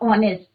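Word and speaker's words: honest: जैसे हमने कल करा था ऑनेस्ट या आर, तो इसका प्रोनाउंसिएशन कैसा हो रहा है?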